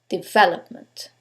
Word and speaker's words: development: the last syllable development in this case is the second syllable development now you couldn't know